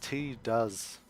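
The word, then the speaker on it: Tidus: Titus actually pronounced T does.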